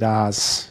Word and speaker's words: Adidas: some Freshies so uh Adidas Adidas however you want to say it Adas um I need to say it like that way I feel like it's pretentious in America they'll be like oh yeah it's Adidas um n it I'm